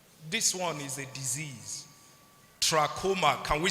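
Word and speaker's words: trachoma: in that basket is troma can we say it together tra not Tacoma Tacoma is a brand of helux this one is a disease troma can we say it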